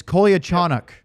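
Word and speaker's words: Kolyachonok: It's Kolia Chanuk.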